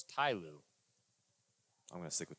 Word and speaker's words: Ty Lue: That was T-Lue. Ty Lue. That was T-Lue. No, it's Ty Lue. I'm going to stick with T-Lue. No, it's Ty Lue. Say it right or don't say it at all.